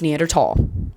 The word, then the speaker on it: Neanderthal: as ignorant English speakers, kept the H and now we just confuse everybody and now everybody pronounces it incorrectly and it makes me really mad. It makes me so mad. Um, it's Neanderl.